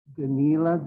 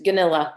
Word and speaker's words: Ganilla: Is it Danila? I'm not even close. It's Ganilla. It's just like it's spelled. It's like vanilla, Okay. but with a GU.